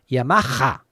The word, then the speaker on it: Yamaha: here in Spain Hond but the H in Yamaha is over pronounced Yamaha so little bit confusing